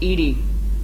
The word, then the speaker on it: EDI: the airline is ajar why are you named ed ed is the phonetic pronunciation of Ed I that is an acronym